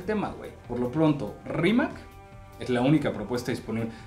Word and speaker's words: Rimac: web por lo pronto rímac es la única propuesta disponible que por cierto voy por ser croata en realidad se debería de pronunciar rimax una lluviecita de spex